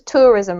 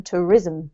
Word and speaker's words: tourism: that's better and tourism we have the emphasis on the first syllable so it's tourism rather than tourism okay tourism no other way around tourism tourism yeah that's better okay this one is